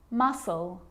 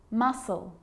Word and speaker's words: muscle: subtle debt and doubt now the letter c can cause a few problems because it's often silent after the letter s like in these very common examples they're quite tricky muscle muscle scissors fascinate scene scenario